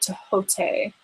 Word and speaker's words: Thoth: The first card that we have for you, Brittany, is the Writing card by the Ascended Master Thoth, or some people pronounce it Tehote. I like that Tehote pronunciation.